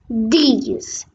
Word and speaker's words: dix: Next, 10 in French is dix. It's like C's, but in a D in the beginning.